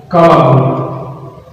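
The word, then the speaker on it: كلب: And jaguar in Arabic we pronounce it Fahad. Fahad. Our next animal is dog. It's Kalab.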